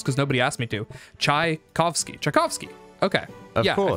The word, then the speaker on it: Tchaikovsky: honestly travoski did i say that right is it is it is it pronounced czechovsky czevosky chuckle of ozzie uh